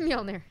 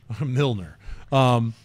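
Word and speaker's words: Mjölnir: Mjolnir. Mjolnir.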